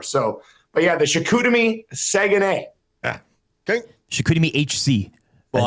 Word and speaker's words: Saguenay: So, but yeah, the Chicoutimi Saguenay.